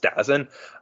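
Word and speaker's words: DAZN: televised it with uh D AZN I think it's pronounced dozen um I don't get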